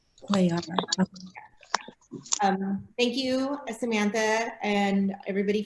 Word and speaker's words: Cuellar: It's pronounced Cuellar. Cuyar.